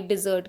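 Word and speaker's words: dessert: एक और डिजर्ट होता है, उसमें डबल एस स्पेलिंग भी चेंज है उसकी, लेकिन प्रोनाउंसिएशन सेम वर्ब वाले डिजर्ट की है।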